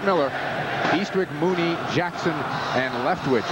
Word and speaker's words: Mueller: Looks like Mueller, but he pronounces it Miller.